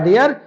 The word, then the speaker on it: der: तो इसको अगर डेर बोला जाए तो राइट है, रॉन्ग नहीं है, लेकिन सही बेस्ट ऑप्शन होगा कि हम उसको डे बोले, डे।